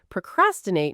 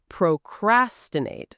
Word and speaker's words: procrastinate: It's pro- crastinate, stress on the second syllable, not procrastinate.